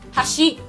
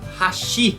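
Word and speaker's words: 箸: vamos responder para vocês Se vocês falarem a palavra hashi acentuando a última palavra vocês estão falando ponte hashi em japonês significa ponte hashi em japonês significa pauzinhos para comer e a colocação do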